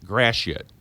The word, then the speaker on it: Gratiot: As we pronounce it in St. Louis, Gratiot.